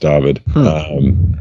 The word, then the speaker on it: Dyfed: It's spelled Dyfed, but it's Welsh, so it's pronounced David.